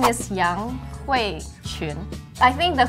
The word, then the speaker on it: 雅: Ya means elegant and noble. I mean, 优雅的雅. yeah. So, ya, not ya. Oh, yeah, you pronounce it wrong. Yeah. Like a third tone, yeah.